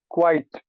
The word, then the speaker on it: quite: you say number one quite quite so the ah is pretty big and the I is just a little I quite quite but how